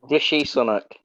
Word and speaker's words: Rishi Sunak: Is that how you pronounce it? Rishi Sunak, yeah.